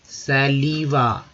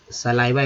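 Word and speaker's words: saliva: सलीवा, सलाइवा actually बोलते सलाइवा। तो श आई का उच्चारण जो है दोस्तों कभी कभी कंफ्यूजन हो जाता है, तो ध्यान देंगे। तो कभी का आई ई, कभी आई, तो यहाँ पर आई का उच्चारण हुआ सलाइवा।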